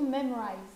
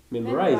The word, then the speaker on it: Memrise: Ah, M-E-M-R-I-S-E. Ah, pas du tout. Memorize alors. Memrise. D'accord. Memrise. Il n'y a pas de O.